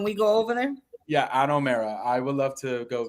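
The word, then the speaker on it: Ano Mera: The way you pronounce it is the AH-NO. And then the second part is MEH-RAH.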